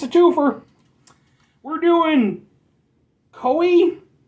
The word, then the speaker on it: KÖE: We're doing Koi. It's got the dots over the O, which means that it's pronounced like O. I'm gonna go with Ko.